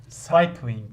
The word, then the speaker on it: cycling: masa tenesi golf ve cycling bu e cycling cycling cycling diye okunuyor hocam bicycle da Hani aynı